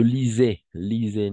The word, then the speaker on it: lisais: Je lisais, n'oubliez pas le S, voyelle S, on va prononcer comme un Z. Toujours, d'accord? Voyelle S, voyelle, toujours comme avec une vibration.